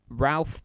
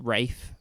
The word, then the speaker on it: Ralph: film the dig starring ralph but actually pronounced rafe for some reason fines and some other